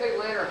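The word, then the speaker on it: lanner: Mate is Atlanta falcon. L A N E R. I spell that cuz it ties people think I'm saying Atlanta falcon kept six years ago.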